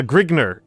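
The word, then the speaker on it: Grignr: Uh, Grigner is the is the conventional pronunciation.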